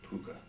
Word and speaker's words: Pwcca: from the first album there's a song called puka a lot of people don't know how to you know it's pwcca well when you look